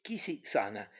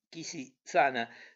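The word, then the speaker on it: Quisisana: Sobre la puerta se leía en caracteres dorados el vocablo Kisi-sana, y en toda la ciudad era conocida la casita bajo este nombre, que la gente solía pronunciar con una S débil y una A sonora.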